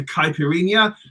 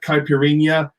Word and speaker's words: caipirinha: for peranja rania piranha because when you have an n followed by an h it's like a an n with a tilde in spanish i'm fine like caipirinha is n-h-a and piranha is nha